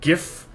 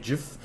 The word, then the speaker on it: GIF: And I pronounce it gif because it's wrong if you say it gif.